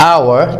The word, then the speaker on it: hour: keep in mind that the letter h is silent in the word hour it is pronounced as